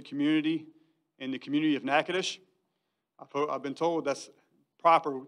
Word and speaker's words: Natchitoches: staff the university community and the community of natchitoches i've been told that's proper term to say